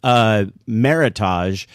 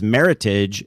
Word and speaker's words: Meritage: always pronounced for years, Meritage. As it turns out, it's Meritage. It rhymes with heritage, and it's a made-up word by the Napa Valley wine growers.